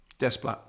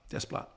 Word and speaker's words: Desplat: Do you say desplat? Desplat. Desplat. I would have thought the French wouldn't pronounce the air.